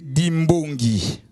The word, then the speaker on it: Dimbongi: Prononcé Dimbongi, qui bongi, mais c'est Dimbongi.